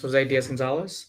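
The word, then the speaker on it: José Díaz González: My name is Jose Diaz Gonzalez. Um to pronounce it without the accents or with the accents as as you want and I'm an offag on again PHP core developer.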